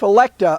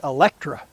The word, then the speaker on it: Electa: any rate my wife electa a lot of people mispronounced her name they called it electra which is a little